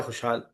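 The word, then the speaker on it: خوشحال: Shopping करके लौटी है लिखा है खुशहाल वाओ जो है वो इसमें लिखा हुआ है बट आपको वाओ प्रोनाउंस नहीं करना पूरा उसी तरीके से अगला लफज़ है आसान सुर।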